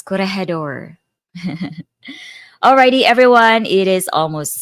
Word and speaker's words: Corregidor: That's pronounced as Corregidor.